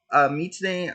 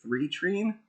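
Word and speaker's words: 3tene: By the way, Mitane I tend to call it three treen because it's spelled three like the number three Tene. But apparently it's pronounced Mitane.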